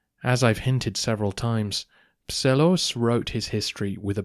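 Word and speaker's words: Psellos: and for those wondering that's spelled PS e l o s Pelos Michael wrote a unique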